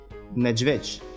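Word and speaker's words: niedźwiedź: «Неджвеч».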